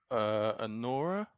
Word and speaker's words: Anora: So the first one that Emmanuel's going to do is, how do you pronounce this one? Anora. Anora.